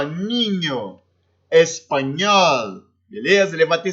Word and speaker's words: niño: Então, la N, o la N, ele tem o som do NH do português, como no exemplo aqui, ó, niño, espanhol, beleza?